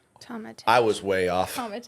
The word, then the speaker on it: Tometich: It's Tomatic. It's Croatian. So it's like say it in English.